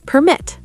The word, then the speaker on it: permit: Word number 16, permit. Permit, noun, a document, versus permit, verb, to allow.